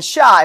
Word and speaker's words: 下: Then Xia is opposite, see? Opposite of Shang. It's called Xia. Xia. Xia. Xia, the fourth tone.